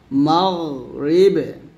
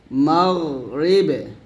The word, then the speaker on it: মাগরিবে: আমরা অনেকে কী করি, গয়নটাকে কলকলা করে ফেলি, তো এখানে কলকলা করা যাবে না, বলতে হবে মাগরিবে মাগরিবে মাগরিবে মাগরিবে, এরকম মাগ এরকম না, কিন্তু মাগরিবে।